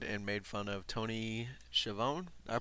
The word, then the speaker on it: Schiavone: And after the match, Britt Baker stuck around and made fun of Tony Schiavone. Did I pronounce that right?